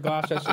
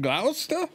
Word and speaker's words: Gloucester: He said, Gloucester is pronounced Gloucester.